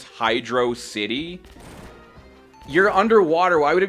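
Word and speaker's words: Hydrocity: the water level, but this song Welcome to Hydroity Zone. I'm kidding. If you're stupid, that's how you pronounce it. But it's how a lot of people pronounced it for years before Sega confirmed that it's Hydro City.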